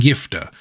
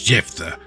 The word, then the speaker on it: Jephthah: did indeed pass and gifter who Christians to this day mispronounce as jephthah found himself losing to